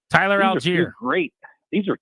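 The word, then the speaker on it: Allgeier: There's a lot of issues involved in the running game, but having Bijan Robinson and Aguilar, how do you pronounce his name? Algier. Tyler Algier.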